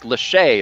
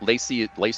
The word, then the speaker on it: Lachey: Nick Lachey, it's actually pronounced, but Lacey is an acceptable pronunciation.